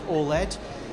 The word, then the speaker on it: OLED: well this is Sony's OLED it's uh the first commercially available OLED or ol depending on how you want to pronounce it it goes on sale